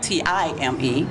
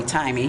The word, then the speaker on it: Tyyyme: It sounds like Time. Right. A lot of people want to call me Timey. Yeah, but no, that's what I it's not.